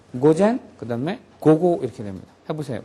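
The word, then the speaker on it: 午後: 여기에 잘못 발음해 갖고 길게 발음하는 경우가 있어요 고젠 고고 이렇게 발음하면 틀리게 되죠 전부 다 짧아요 고젠 그다음에 고고 이렇게 됩니다 해보세요 고젠 고고 고고음 이렇게 짧아야 고젠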